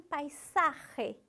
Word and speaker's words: paisaje: Aqui tem uma palavra difícil, paisaje. Aquele R difícil, o S que gosta de sair com som de Z, mas a gente não pode deixar. Este é um paisaje peruano.